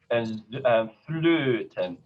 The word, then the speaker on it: Flöte: So I'm just, it's an A plus an O sound. Tongue in an A position, and my lips round into an O position. Flöten, Söhne, Söhne. Can you see both of those? This accent is on the first syllable.